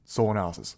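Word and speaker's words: SolAnalysis: which is currently called soul analysis and solenosis obviously is a play on words of solana and analysis people have trouble pronouncing it um which is why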